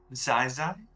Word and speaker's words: Zaiza: mispronounced it it's okay zaiza it's like a tie but it's sci-fi oh so she like